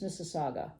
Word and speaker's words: Mississauga: I always want to say Gua, but I think it's Mississauga.